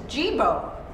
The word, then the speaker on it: Jibo: was this robot and this is geebo it rhymes with the other one that has nothing to do with this okay now what's interesting